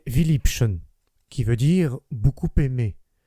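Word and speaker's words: Vielliebchen: compte de sa signification il y a en allemand un mot qui se prononce presque absolument de la même manière que notre philippine c'est viliption qui veut dire beaucoup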